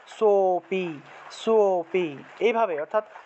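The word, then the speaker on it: সোঽপি: সো, সো উচ্চারণ করলাম, কিন্তু সো এর যদি আমরা দ্বিগুণ উচ্চারণ করি, সোপি, সোপি, ঠিক আছে, সোপি, এইভাবে সো উচ্চারণ করলে একটা অ চলে আসলো, যার ফলে আমাদের লুপ্ত অ এর উচ্চারণটা হয়ে গেল।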